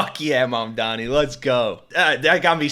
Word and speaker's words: Mamdani: And furthermore, the name is Mom Donnie. M A M D A N I. You should learn how to say it because we got to get it right.